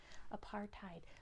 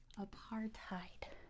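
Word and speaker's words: apartheid: say South Africa's policy of segregation known as a part tide very good A Part tide let me spell that out because it is Africans and they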